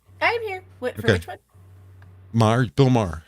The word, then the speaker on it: Maher: it's m right it's Bill Mah yeah bah yeah don't pronounce the h Mah um well maybe